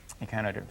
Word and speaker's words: echinoderm: Echinoderms. Do you know what an echinoderm is? They got spines on them. Excellent. In fact, we can take the name apart. What rhymes with echino, Meg? Rhino. Rhino.